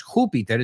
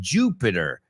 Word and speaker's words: Jupiter: Venus, not Venus, porque se escribe igual, pero lo mismo que no es Júpiter, es Jupiter. Jupiter.